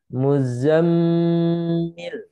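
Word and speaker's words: المزمل: member tasydid ya jadi Nun dan mim yang bertasydid studi bacanya harus dengung Muzzammil Muzzammil ya ayyuhal Muzammil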